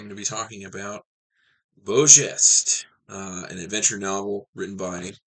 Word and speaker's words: Beau Geste: That is how you say that, by the way. It's French, Beau Geste.